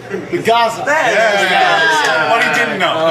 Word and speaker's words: Gaza: It starts with a G and rhymes with plaza. So Gaza.